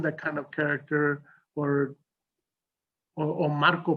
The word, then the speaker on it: Marco: Maybe they haven't seen that kind of character, or Marco pronounced Marco, okay, in a very different way. And people say, well, why do you say it like that?